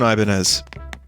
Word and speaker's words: Ibanez: similar looking base it's it's an ibanez you don't pronounce the z or most of the other letters and you just pronounce it but um my base